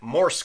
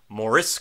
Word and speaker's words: Morse: was saying that wrong I kept putting an extra uh vowel in there I kept on saying moris code but it's Morse code not moris code so if I mispronounced